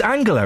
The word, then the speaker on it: Angela: Is it Angela or Angela? It's Angela, isn't it? It's a hard G.